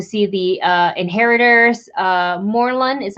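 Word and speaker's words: Morlun: also want to see the uh inheritors uh moreland is how you pronounce it and spider-gwen yeah i would be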